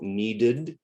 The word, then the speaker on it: needed: When it comes after D, need. So the E is not silent at the end. Need is 1 syllable, needed is 2.